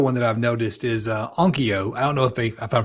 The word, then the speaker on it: Onkyo: Another one that I've noticed is Onkyo. I don't know if I'm pronouncing it right.